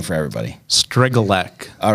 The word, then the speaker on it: Strygulec: me yeah all right I think I've been pronouncing it wrong for the better I've caught stridge but it's a we I respond to